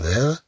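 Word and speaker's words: vert: لولي نحذف هاد أ أن كي فيغ فيغ أننا لا ننطق الطي ولكن في حالة مؤنث نقول فيغت طبعا تنطق الطي عندما نضيف أ أن كي فيغ ثم عندنا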